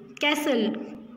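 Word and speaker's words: castle: King किसका यूज़ करता है उसमें रहने के लिए, कैसल. किसका, कैसल का. तो इसमें क्या साइलेंट है, टी.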